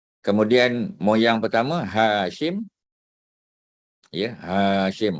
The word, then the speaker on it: Hashim: Ya, Hashim. Ha tu panjang. Hashim.